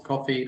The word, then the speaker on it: Ko-fi: That might be not quite the right term, but we have a donation platform on Coffee, that's spelled KO-FI, where you're able to donate to the company, either through subscriptions or one-time donations.